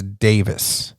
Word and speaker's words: Daviess: to let you know even though it's spelled d-a-v-i-e-s-s it's davis oh there you go